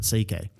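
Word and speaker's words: C.K.: That's literally how you pronounce it. CK and so he would just write C and then the K.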